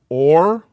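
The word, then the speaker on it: אור: or light okay and that is o r or i should say maybe o h r because our english when we see o h we always pronounce it as an o sound most people like to pronounce an o as a ah kind of a sound whatever or that's light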